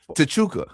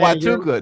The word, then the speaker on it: Huachuca: He said Tachuka. Ford, yeah, like what is Tachuka? It's Fort Huachuca.